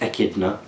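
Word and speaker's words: echidna: right with this one eidner pronounced idna is a mammal that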